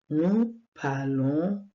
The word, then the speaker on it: parlons: prononce pas le S nous parlons on prononce pas le S et vous parler on